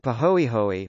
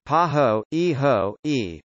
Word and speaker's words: pāhoehoe: to the surface texture ah pronounced ah and pahoehoe pahoehoe both Hawaiian words ah is characterized by